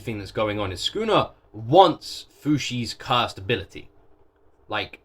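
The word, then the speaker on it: Sukuna: Also, I've been pronouncing it Schooner because that's how they pronounce it, but it's not spelled like that.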